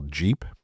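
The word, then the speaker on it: GEP: But also um especially in startup land, I operate with a principle I call Jeep, but it's spelled Ge.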